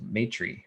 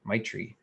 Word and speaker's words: maitri: And this is inspired by a class I'm taking right now, an online class through Elephant Journal on the topic of Maitri or Maitri, which it's spelled Maitri, and loosely translated the word from Sanskrit, it means loving kindness.